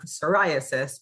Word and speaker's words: psoriasis: might be spelt with a silent key on psoriasis but it's pronounced um with an s so that's in the